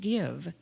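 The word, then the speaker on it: Gyve: For electronic giving, you can download the app on your smartphone called Give. It's pronounced Give, but it's spelled G-Y-V-E.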